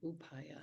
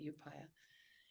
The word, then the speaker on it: Upaya: day we drove by a sign that said upaya or upaya as it's properly pronounced but some people call it upupa upaya Zen Center and I looked and I